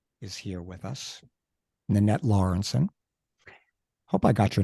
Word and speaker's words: Lawrenson: today uh Nanette is here with us nette lawrenson hope I got your name right I didn't